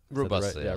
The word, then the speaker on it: Robusta: Robusta, Robusta.